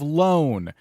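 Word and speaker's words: Lone: we are on the island of loan and not like payday loan but loan Ranger that's how it's spelled um the island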